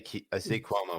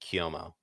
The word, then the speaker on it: Cuomo: Sorry, I say Cuomo when I know it's correctly pronounced Cuomo.